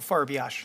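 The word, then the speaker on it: Farbiarz: do you say your name Sir Michael Michael farash yeah I got the Michael part okay uh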